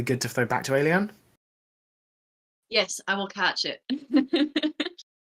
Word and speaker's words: Ayliean: So if that is the case, it's 3 syllables, Ayliean, very similar to the word alien, but Ayliean, the last name, nice and easy, just.